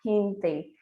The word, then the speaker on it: gente: Então, se você for falar em espanhol a palavra gente, você não vai falar gente, você vai falar gente, porque o G em espanhol ele tem som de quê?